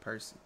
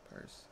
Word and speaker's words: Perce: How you pronounce it? Perce? Why the fuck I say Percy? Perce.